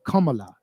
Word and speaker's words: Kamala: don't dig miss kamala has a kamala that's how they try to get us to pronounce it whenever we was on the phone banks and going the doors kumala kumala kumala has kumala